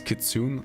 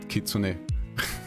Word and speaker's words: Kitsune: in English that's why she says kitsun and not Kitsune because the speech module reads it as an English word all right the